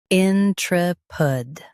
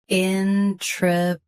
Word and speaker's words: intrepid: INTREPID. Both US and UK have the same pronunciation of this word. Stress, tre. Keep in light and end with soft pud. INTREPID.